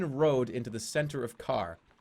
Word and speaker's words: Khare: It's pronounced Khare, not car. Khare. There's an accent on the gosh.